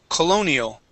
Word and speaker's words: colonial: this word here is colonial C so uh that o makes an uh sound Colonial Colonial Colonial good